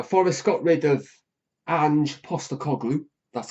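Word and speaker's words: Postecoglou: Now Forest got rid of an Postgloop. That's how you pronounce it by the way.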